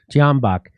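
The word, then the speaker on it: Tyahnybok: The C-14s was started as a youth wing of the Svoboda Party, founded by Ole Tenehambach. Is that how do you say his name, Max? Tianbach.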